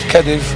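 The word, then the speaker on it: Kedyw: Kadiv, it's pronounced Kadiv, are not forgotten.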